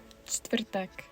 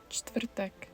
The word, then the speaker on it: Čtvrtek: Czech is famous for its consonant clusters, allowing up to 5 in a row. Here's the word for Thursday. Čtvrtek. Čtvrtek.